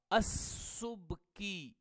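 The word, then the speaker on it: السبكي: سین کے اوپر ضمہ ہوگا، با ساکنہ ہوگی، اور پھر اس کے بعد کاف کے نیچے کسرہ ہوگا، السبکی، یہ اس کا اصل تلفظ ہوگا۔ یہ جو السبکی کے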